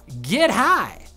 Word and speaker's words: Get High: Data miner Bob Network UK uncovered an upcoming parkour map for the game called Get High. You have to say it like that. That's how you pronounce it.